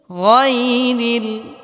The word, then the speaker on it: غير: المغضوب عليهم ولا الضالين গায়রিল, এখানে আমরা গায়রিল পড়ি অনেকেই, গায়রিল পড়া যাবে না। গায়রিল, গয়ন মোটা করে উচ্চারণ করতে হবে। গায়রিল এটা ভুল।